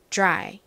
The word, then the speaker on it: dry: 연습을 해 볼 건데요 이렇게 D R이 연다라 쓰이면 발음에 좀 살짝 변화가 생깁니다 어떤 변화가 있냐면이 뒤의 디귿 소리에지 소리가 살짝 한 방울 정도 살짝 섞여 들어가게 됩니다 그래서 미국 사람들이이 단어를 발음하는 걸 잘 들어보면 드라이드라이 이렇게 발음을 하는 것이 아니라 dr dry 이렇게 살짝지 발음이 들리는 경우가 많습니다 자 한번 저희 발음을 해